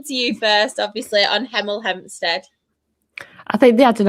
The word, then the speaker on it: Hemel Hempstead: And next, in fifth spot, we do have Hemel Hempstead. Yes, I pronounced my H's.